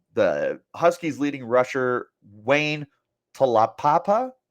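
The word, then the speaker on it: Taulapapa: Huskies leading rusher Wayne talapapa tala Papa I believe is how you say that is a senior for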